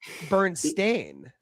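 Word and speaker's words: Berenstain: But they actually spell it Bernstein, like Stain.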